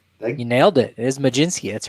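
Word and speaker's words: Mlodzinski: and carmen maginski you nailed it it is maginski that's right let's go now spell it look at me look at me keep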